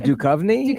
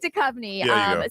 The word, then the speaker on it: Duchovny: Duchovny? Duchovny, yeah. I don't know who you're going. Where you're going? We're waiting for a bunch of Davids. Give me an attempt. Yes, David Duchovny.